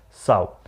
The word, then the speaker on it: sow: in the category of the feminine gender so some very important masculines and feminines of nouns are